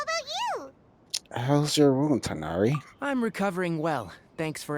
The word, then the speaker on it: Tainari: Tanari!